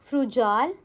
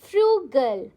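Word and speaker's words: frugal: Will you pronounce it एज फ्रूजाल? No absolutely not. इट is pronounced as फ्रू गर्ल।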